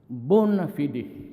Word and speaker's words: bona fide: repression of media the bonafide media bona fidi media sometimes they pronounce that bona fide but whatever that thing